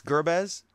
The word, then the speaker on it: Guerbuez: don't want to mess it up it's uh gerz it's Gerbes yes it's a lot easier than oleg's last